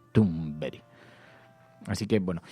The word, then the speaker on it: Thunberg: hasta el final porque alguien decía que no se pronuncia así. A ver, que lo está diciendo un sueco, que no lo estamos diciendo nosotros. Estamos siguiendo el ejemplo de los suecos. Luego nos escribió incluso un oyente y nos decía cómo se pronunciaba. Nos puso un mensaje de WhatsApp y era así, era Greta Thunberg.